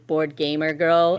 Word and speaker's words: boardgaymergirl: it my thing is board gamer girl and then when you say out loud you missed the gay like gay yeah g a y m e r yes spell it yep